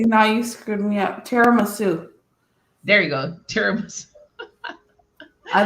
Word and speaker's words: tiramisu: Terrasamu. I can never say that. How do you say that, Dale? See, now you screwed me up. Tiramisu.